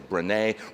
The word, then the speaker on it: Brené: Her last name is Brown, her first name is Brené, rhymes with Renee, B-R-E-N-E.